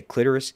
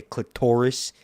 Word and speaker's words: clitoris: I didn't think, if you say clitoris kind of like aggressive, and you don't say clitoris, right? You say clitoris, it rhymes with Dolores and Doris.